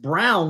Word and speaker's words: Braun: Uh it it does look like brown but or bronn I should say but it is pronounced like the color brown.